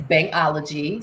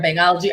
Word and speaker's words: Bhangology: So we're on all social media as Bhangology. So can you spell that?